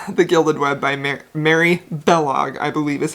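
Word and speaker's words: Balogh: i believe it's bellog like kellogg without the k use of bae so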